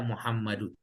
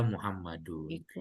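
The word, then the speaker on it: يا محمدُ: tidak pakai harokat apa-apa, ada ya dan Muhammad, kita bacanya adalah ya Muhammadun. Nggak boleh ya Muhammadun gitu ya. Itu cara baca yang salah kalau ya Muhammadun.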